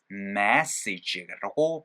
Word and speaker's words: message: 요거 내가 ME의 형태 찍어가지고 message라고 발음이 돼야 된다라고 얘기했던 거 기억나세요?